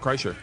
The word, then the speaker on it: Kreischer: How do you say your last name? Kreischer, you said it right. Yeah. Kreischer.